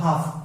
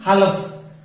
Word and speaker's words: half: तो हाफ में एल के बाद एफ आ गया इसलिए ये साइलेंट हो गया, तो हाफ, इट्स not pronounced हालफ, हाफ एन आर, क्योंकि एच आ गया।